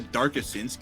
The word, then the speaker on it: Darkasinsku: I say it as Dark Asins. No one has yet to correct me.